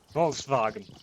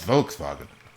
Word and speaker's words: Volkswagen: You gotta emphasize the var, haven't you? You gotta be like, Volkswagen.